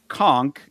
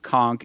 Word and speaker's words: conch: Uh that the word conchk is pronounced conchk. It is spelled co n c. It is spelled conch.